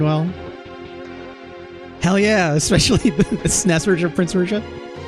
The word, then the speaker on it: SNES: Yes, I say SNES as all one. It's one syllable, right?